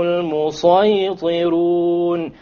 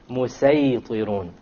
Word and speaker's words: الْمُسَيْطِرُونَ: So this is to show you, you can use a seen here, but it's, a sad is preferred. It is better to pronounce it as a sad.